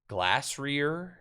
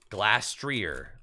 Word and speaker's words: Glastrier: Glassrear. How do you say the ice horse? Glastrier. Oh, Glastrier.